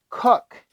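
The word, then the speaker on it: Koch: oh cook sorry sorry I've been saying it all wrong even says pronunciation cook cook it's cook Kina Christina Hamilton hcock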